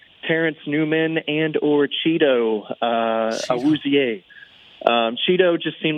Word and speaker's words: Awuzie: the locker room that that's not my name. That's not how you say it. We were like Cheeto Awuzie. It's just Awuzie.